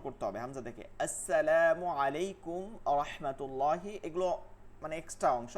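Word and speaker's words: عليكم: ঠিকমতন রাখা আসসালামু আলাইকুম আলাইকুম বলবো না কি বলবো আলাইকুম যেহেতু আইন আছে আইনের উচ্চারণটা রাখা এইভাবে যদি প্র্যাকটিস করতে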